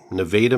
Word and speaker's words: Nevada: And something interesting about the location, it was not that far from the town where you were born, Nevada, Missouri. It was not, and I thank you for pronouncing it correctly.